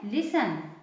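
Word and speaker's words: listen: एस टी ई एन इसका प्रोना लिसन लिसन लिसन मीस होता है सुनो लिसन मीस सुनो टी साइलेंट है ठीक है न म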